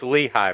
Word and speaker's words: Lehi: I am well, and it's Lehigh Valley. Lehigh? Wow. Okay. There you go. I mean, technically, it's Lehigh. Duh. Here in Utah, where we're at, we have Lehigh as well, and it's pronounced Lehi.